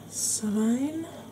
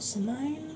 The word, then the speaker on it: Samhain: Do you celebrate the Wiccan Samhain, or Samhain, depending on how you pronounce it?